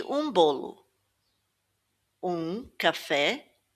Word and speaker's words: um: Um café e um bolo. Notice that the M here isn't pronounced like an M, it's more um.